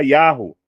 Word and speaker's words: Yahu: Aqui nós temos a pronúncia Yahoo, tá? Uma pronúncia só comportada no trigrama, que seria o nome do Deus de Israel, tá?